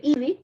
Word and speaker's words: Ivy: O tenemos el método de Ivy, se escribe Ivy, se dice Ivy, o tenemos el método de Duke.